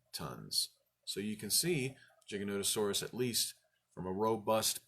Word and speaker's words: Giganotosaurus: referring to this animal you don't mistakenly say gigantasaurus the paleontologist would look at you pitifully and say uh-uh